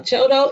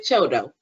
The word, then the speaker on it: CHDO: being a children okay a choto is pronounced some people said you do and some people said chodo either way it goes we're still working on housing